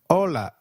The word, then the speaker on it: hola: Hi is called hola in Spanish. Can you try that, please? Hola. Did you get that right? hola. Remember, H is always silent in Spanish.